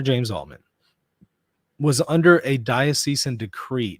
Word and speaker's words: diocesan: So this decree, this diocesan decree, somebody corrected me on my pronunciation on that earlier. Fair enough. I say diocesan, but that's fine. Diocesan. It's going to take me a little while to get used to that.